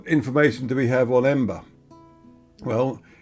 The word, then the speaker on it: Emba: And now we're going to be turning right into Emba, or Emba. It's various spellings, but I'd imagine it's pronounced Emba, E-M-B-A. Because Cypriots seem to pronounce a written P as B a lot of the time, which is why what